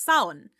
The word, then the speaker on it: Samhain: How do you say it? Because it looks like Samhain. Yeah. It does, and it drives me crazy in movies or TV shows where they're like, Samhain. Samhain, like Samhain. They pronounce it all sorts of weird ways. It's Samhain. It just is.